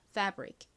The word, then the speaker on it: fabric: F를 한국식으로는 피읍으로 표기하죠. 실제 발음은 F 소리 나고요. A는 에 소리, B는 비읍 소리, B 소리. IC는 익 소리 나는데 앞에 R이 왔으니까 리을 소리 더해서 릭이라고 발음이 됩니다.